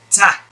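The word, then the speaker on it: ط: the difference is that to pronounce this letter ta you will have to apply a much firmer touch of the tongue against the gums behind the upper teeth whereas to pronounce it's half of the amount of the touch that or or the press that you press to say the letter ta use half of that amount or maybe a little bit less to pronounce the letter dad so same uh all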